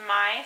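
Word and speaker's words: Maj: kind of random but it means May in Swedish is pronounced my so my full name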